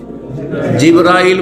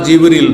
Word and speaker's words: জিবরীল: ফেরেশতাদের প্রধান জিব্রাইল বা জিবরীল দুইভাবে উচ্চারণ করা যেতে পারে।